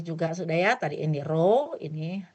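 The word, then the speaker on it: ρ: ini bacanya adalah row nih.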